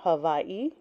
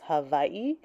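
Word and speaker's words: Havaiʻi: chapter 1 introduction did the Natives of pre-christian Havi have a spiritual concept of divinity in heaven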